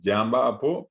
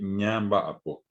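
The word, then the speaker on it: ñamba'apo: Se dice, algunos dirán ñandé, yamba apo, pero cualquiera que entiende va a decir que se pronunció mal, esa persona pronuncia mal. La pronunciación correcta es ñandé, ñamba apo.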